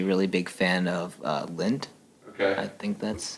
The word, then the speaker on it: Lindt: It might be a little old school, but I'm actually a really big fan of Lindt. Okay. I think that's how you pronounce it.